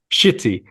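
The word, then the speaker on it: Ch'ti: uh I'm drinking um this is how it's pronounced shitty IPA yeah okay okay very good yeah it's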